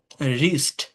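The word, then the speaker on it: wrist: আপনি বাদ দেন রাইট আরইটি রাইট রং wrestling রিস্ট রপ rake rake finally silent মানে শব্দের শেষে যদি ই থাকে মেইন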